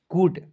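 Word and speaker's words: good: ड लिखते हैं और आपको याद रखना दोस्तों दो कंसोनेंट के बीच में डबल ओ आएगा उसका उच्चारण बड़ा ओ के रूप में करते हैं ठीक है हो जाएगा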